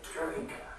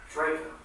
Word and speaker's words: Drejka: Interview will be concluded with, pronounce your name? Drejka. Drejka.